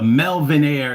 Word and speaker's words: Melvinaire: The Melvin Air is spelled like millionaire, but Melvin, like MELVINAIRE.